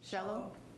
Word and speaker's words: Shello: Our next public comment is from Shello. Rhymes with Jello.